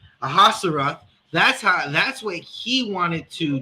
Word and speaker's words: Ahasuerus: And that's what King Salakia, how do we pronounce his name? Ahasuerus.